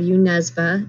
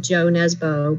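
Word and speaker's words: Jo Nesbø: um i also love you nesba or some people uh pronounce his name joe nesbo because that's what it looks like but in norwegian it's not pronounced that way um okay although interestingly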